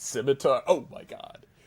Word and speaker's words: scimitar: Shemir Nick and then War Warhammer push. It's pronounced scimitar.